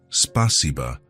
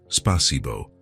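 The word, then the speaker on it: спасибо: "It's spasiba, not spasibo," he explained. "The A is softer."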